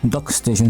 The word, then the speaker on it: DuckStation: and we can Search dock Station or duckstation Sorry doc Station the correct pronunciation and we search here